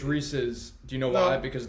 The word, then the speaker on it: Reese's: asked that question but because it's wrong it's Reese's Pieces it Rhymes I've literally never heard